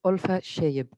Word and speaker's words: Olfa Sheib: screen uh just to to correct the pronunciation of my name is olfa sheib so as the christina